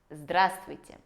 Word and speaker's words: Здравствуйте: Здравствуйте. При произношении этого слова выпадает буква «В», которая находится в середине. И таким образом мы не говорим «здравствуйте», а мы говорим «здравствуйте».